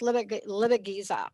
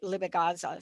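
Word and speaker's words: Ilibagiza: And there's different pronunciation, but it's Libigiza. I call it Libigaza. Some people call it.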